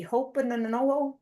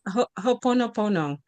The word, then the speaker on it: Ho'oponopono: I think it's pronounced Ho'opono. Thank you. Ho'opono. Okay. Okay. I looked at It's Ho'oponopono. I believe it is Ho'oponopono.